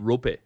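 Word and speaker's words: Roope: around him, and I'm going to pronounce his name wrong, is Roop Hintz. So what's the buzz with this guy? Rope.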